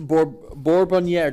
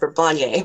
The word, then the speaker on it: Bourbonniere: Bourbonniere. Do I say your name correctly? Can you help me out there? You do, but my family pronounces it Bourbonniere, but you did pronounce it correctly in French.